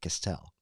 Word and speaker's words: Castel: written by Alan Deacon Castel that's how he pronounced it Castel it's a book about aging because of course